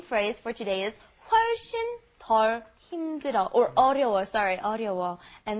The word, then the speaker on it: 덜: And like Steven said, be careful with the pronunciation. You don't want to say it's a lot more difficult when you mean a lot less. The pronunciation is very similar. 덜 and 더.